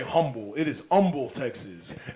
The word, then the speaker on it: Humble: Humble. You do not say humble. It is humble, Texas. That H is silent.